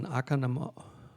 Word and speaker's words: Oconomowoc: Pete Schultz was born in East Lansing, Michigan, and grew up in Oconomowoc, Wisconsin. I could tell that I was long enough in Wisconsin that I could pronounce Oconomowoc.